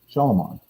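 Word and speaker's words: Shyamalan: Not Shalom. That's how you pronounce his last name.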